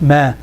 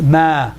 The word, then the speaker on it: ما: Not ma. It's ma. Ma. Open up.